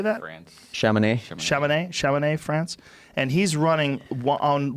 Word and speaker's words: Chamonix: 1 L-I-A-N-J-O-R-N-E-T, and he's running in Chamonix. How do you say that? France. Chamonix, France.